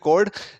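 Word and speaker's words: chord: चोट मत बोल देना, ये मतलब बहुत प्रोनाउंसिएशन में गलती होती है, इसको बोलते हैं कोड।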